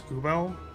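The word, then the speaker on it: Übel: Her name is Ubel, like Uber.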